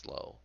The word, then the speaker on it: slough: I believe that's pronounced slow.